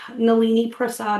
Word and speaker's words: Nalini Prasad: Nolini Prasad is how you pronounce my name.